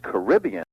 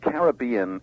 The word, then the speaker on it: Caribbean: origin is mysterious but Caribbean is the pronunciation with the pedigree and also the one used in the area I'm surprised no one's